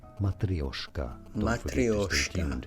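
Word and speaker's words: matryoshka: are so for reference in Russian this is said as matrioska that sounds Italian mat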